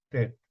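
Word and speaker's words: טית: O Shet, a veces se pronuncia como Shi en vez de T, perdón, es Tet, es una T sólida, es Tet, solamente.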